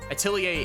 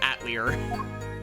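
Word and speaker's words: atelier: eight liar it's a it's a French word it's that does sound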